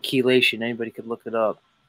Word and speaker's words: chelation: Chelation. It's spelled with C-H, but it's pronounced key.